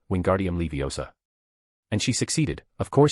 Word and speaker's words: Wingardium Leviosa: You're saying it wrong, Hermione snapped at Ron. It's Wingardium Levi OSA. Make the gar nice and long.